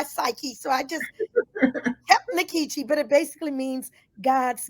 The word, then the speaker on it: Nkechi: in college I find out it really is inkechi uh in like in puma and the E